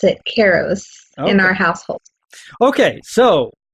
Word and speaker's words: Kairos: Is it Kairos or Kairos? Well, it's pronounced both ways, but we pronounce it Kairos in our household.